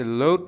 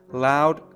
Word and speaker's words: loud: این کلمه رو هم به صورت load نخونید. خیلی اوقات این کلمه رو خیلی از زبان آموزا اشتباهی load میخونن که اشتباه، همونطور که گفتم loud تلفظ درستشه.